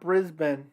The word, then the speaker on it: Brisbane: in the chat i greatly appreciate it it's pronounced brisbane australia oh yeah i know i i have